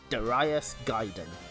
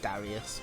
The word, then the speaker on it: Darius Gaiden: there we go i i instinctively tried to pronounce it darius because that's kind of uh that's that's just how i've always pronounced it but i looked up the japanese pronunciation and i was like i suppose i'd better pronounce it properly wouldn't it wouldn't do